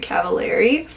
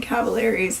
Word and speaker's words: Cavallari: and it is Very Cavallari. I always thought Kristen Cavallari's last name was pronounced Cavallari, but makes sense because it rhymes with very, so I think we're good on that now.